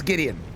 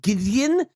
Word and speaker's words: Gideon: So, how do you want to pronounce Gideon? I need caffeine. Okay. All right. Like pigeon. So, but there but it's a D. You can't pronounce it. What do you mean? You want a s a softy? G Gideon. That That doesn't work. Replace the D with a G.